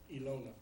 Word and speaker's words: Ilona: How do you pronounce that? Ilona.